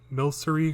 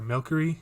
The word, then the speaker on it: Milcery: used to do the streams for when the Milcery or Milkery, however you pronounce it.